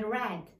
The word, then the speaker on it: read: Now in the past البارح قريتو ساليتو نقول لك I read the book. I read like the color red بحال الاحمر اللون الاحمر.